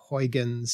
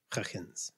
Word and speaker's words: Huygens: It should be something more like Huygens.